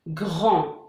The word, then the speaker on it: grand: Grand. Vous voyez ici, on n'entend pas le D.